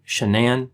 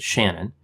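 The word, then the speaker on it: Shanann: pregnant with the son she pronounced her name shenan although her parents pronounced it shannon the couple had two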